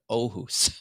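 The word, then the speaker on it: Åhus: Aarhus, Sweden, and the A, it starts with an A with a circle over it, but it's pronounced Aarhus, Sweden.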